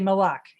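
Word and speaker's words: mhac: If you said my son, you'd say my, you change the front pronunciation of it, but it's spelled M-H. You'd say Mawak and M-H-A-C. That's how you say son.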